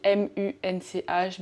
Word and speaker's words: Munch: Enfin, ça s'écrit M-U-N-C-H, mais apparemment on dit Munch.